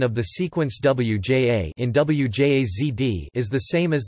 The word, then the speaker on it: wjazd: The pronunciation of the sequence wja in wjazd is the same as the pronunciation of wia in wiadro, bucket.